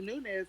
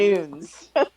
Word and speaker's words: Nunes: Remember, they first started pronouncing Amanda Nunes' name wrong. Instead of them calling her I'm in a Nunes, new. when she first started fighting, they call her Noons. Nunes.